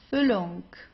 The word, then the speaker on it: Füllung: Here we have a double consonant. I hope you remember what the rule here is. If you have a double consonant, you pronounce the vowel right before that very briefly, right?